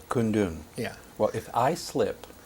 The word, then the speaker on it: Kundun: How do you pronounce it correctly? Kundun. Kundun.